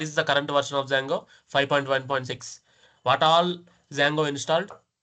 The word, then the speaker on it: Django: We install Django. Django, D is silent.